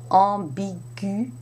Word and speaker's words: ambiguë: But be careful, because sometimes you have a situation such as the feminine adjective ambiguë, which ends in UE with a tréma on the E, and it's not pronounced at all.